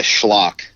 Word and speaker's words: Schlauch: how to say it so as I go by schlock there's a correct pronunciation of schlock which is German but my dad always went by schlock and so I just kind of ran so you guys may actually pronounce it differently than it's supposed to be just cats funny um